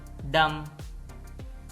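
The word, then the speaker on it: dumb: column column सोलम संजीदा डम यह डम है इसमें भी बी साइलेंट है डम गूंगा थम अंगूठा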